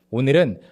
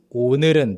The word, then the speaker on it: 오늘은: So the first one is 오늘은, the first portion, 오늘은. It's the sound as well as the real sound. A lot of people, a lot of learners actually emphasize the real part too much and they end up